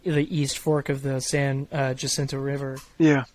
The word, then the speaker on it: San Jacinto: uh Jacinto River yeah am I pronouncing it correctly yeah yeah I mean locals call it the uh Sand Jack but yeah the Sand Jack okay yeah yeah this is just easier than San Jacinto you know just San